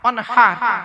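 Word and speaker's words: وانحر: ইন্না আতাইনা কাল কাউসার ফাসাল্লি লিরাব্বিকা ওয়ানহার, ফাসাল্লি লিরাব্বিকা ওয়ানহার, ওয়ানহার, ওয়ানহার। এই গলার ভেতর থেকে হেটা উচ্চারণ করবেন, হাই হুচি, হাই হাওয়াজ নয়।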